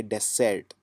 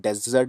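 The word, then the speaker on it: dessert: इसके अंदर आएगा डेर इसको जो प्रोनाउंस करेंगे वो करेंगे डेसर्ट या फिर जो कॉमन उच्चारण है उसमें आप डेजर्ट भी बोल सकते हैं लेकिन थोड़ा सा इसमें जो साउंड है वो आपको जोर कम लगाना है डेसर्ट मतलब होता है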